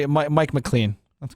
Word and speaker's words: McLean: develop McClain northeast and they spell it exactly how they do not they spell Lal like Lane LA any that's McLean trust me I've never